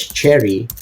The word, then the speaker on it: Cherre: behind this 90% company being pronounced as Cherry but written as c h e r r e so I asked that